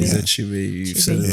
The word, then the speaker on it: Achebe: Forgive me for the Achebe, pronunciation. Achebe.